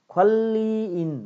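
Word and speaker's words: 관리인: ख्वाल्लिइन भनेको यो ख्वाल्ली उच्चारण हुन्छ है, ख्वाल्लिइन एगे भनेको व्यवस्थापकलाई।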